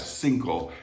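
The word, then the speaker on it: cinco: a little different and that c there for the number five single it's pronounced like a th in bath think all single all right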